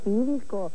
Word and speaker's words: Philco: ¿Viste que Filco se pronuncia como Felices Fiestas?